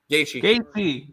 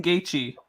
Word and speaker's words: Gaethje: Gaethje. Justin Gaethje.